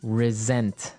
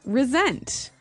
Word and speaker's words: resent: said i resent that resent resent okay now this is spelled exactly like re-sent like with an s right that's right r-e-s-e-n-t but